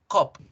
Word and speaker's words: cup: No cerramos la boca. Cop. La O se cierra en español. O, cop. cup, cup. En inglés debo abrir la boca, es decir, cup, cup, cup, cup.